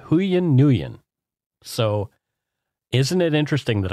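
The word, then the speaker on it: Nguyen: this is your real last name it's huan nuan so isn't it interesting that I knew how to pronounce that last name it's ngu ye n and it's pronounced nuan I've known some nuans yeah but the reason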